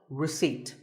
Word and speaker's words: receipt: As in word number 24, receipt. The P is silent.